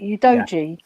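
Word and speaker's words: Udogie: Is that how you pronounce it? Udoji.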